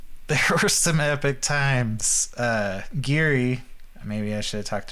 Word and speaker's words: Ghiri: The first few sessions was like, Geary. Jerry's like, what? And it was spelled Ghiri too. Yeah. It has like an Italian pronunciation, but not spelled like Jerry, but it was confusing. And even that character was kind of weird.